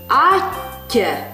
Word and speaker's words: атте: Не забываем, как звучат у нас вместе стоящие две одинаковые буквы. Слитно и долго. Атте.